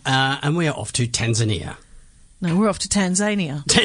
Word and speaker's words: Tanzania: Tasmania so it's Tasmania so why isn't it Tanzanian what's growing on me since we've been doing